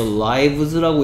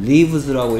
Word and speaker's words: lives: 그래서 알파벳 L-I-V-E-S를 상황에 따라서 lives라고 읽어야 될 상황도 있고요. 네. lives라고 읽어야 될 상황도 있기 때문에 그래서 얘는 뭘 발음이, 발음 가지고 시험 문제 나옵니다.